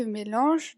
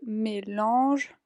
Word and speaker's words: mélangent: Entonces, ya ven que cuando los verbos acaban con ENT así, que significa que está en plural, se pronuncia como si solo tuviéramos una E al final.